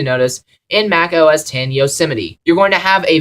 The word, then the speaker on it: Yosemite: to respect numbers anymore the new version is called yazmite no z yosemite yosemite all right i'm pronouncing things correctly now mac os 10